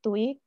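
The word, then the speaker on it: Tuohy: Dan seperti yang kita lihat di sinopsis tadi, pada suatu malam Michael itu ditemukan oleh keluarga Tui, ya, tulisannya Tuohi tapi bacanya Tui, dan semakin lama mereka semakin menganggap Michael menjadi anggota keluarga mereka, dan pada akhirnya mereka mengangkatnya menjadi anak mereka.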